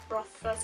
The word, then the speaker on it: Rothfuss: Rothfuss, I think that's how you say it, Rothfuss.